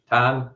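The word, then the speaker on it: Tain: But then you had recommended to me to listen to how do you pronounce it? T-A-I-N? What's the Ton? Ton. So the A is Ton. Okay. The I is silent.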